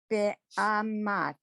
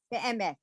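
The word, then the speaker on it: באמת: Be'amat. Almost, except get the vowels are the same. Every vowel is the same in this word. Be'emet.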